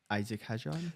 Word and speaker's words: Isaac Hadjar: I'll let you take Isaac Hadjar. Yes, Make sure I pronounce his name correctly. You actually did pronounce it correctly.